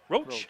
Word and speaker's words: Roche: Is it Roche? Is it pronounced Roche? Roach. Okay, I'm told Roach.